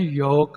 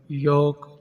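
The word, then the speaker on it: yolk: English में कहते हैं योक यहां पर एल साइलेंट रहेगा योक अंडे की सफेदी इसको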